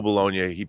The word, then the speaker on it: Bologna: rob how does the director of tango shalom pronounce his last name bologna okay it's gabe bologna and his father uh joseph bologna was an